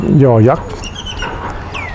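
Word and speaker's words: ยอ ยักษ์: the Thai written alphabet, the symbol for the sound ya, or we would say y sound, the Thais pronounce it yo yak.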